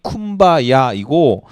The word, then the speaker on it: 쿰바야: 그래서 된 발음이 쿰바야이고 원래 의미는 come by here, 여기 오시옵소서 이런 뜻이. come by here가 here이 이 흑인식 발음으로 쿰바야가 된 거예요.